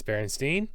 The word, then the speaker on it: Berenstein: gets to stand and teachers pronounce it berenstein with an e and one of his teachers apparently even said your last name is spelled wrong just like it's your last name is wrong so we're going to assume that's how it's pronounced and it's berenstein and because steen was apparently more common that is such a